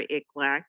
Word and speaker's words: ICLAC: Angeles has his acronym ik lack which nobody knows how to pronounce right so I'm gonna keep saying it so you guys get it it's like quack like a duck so it's it's like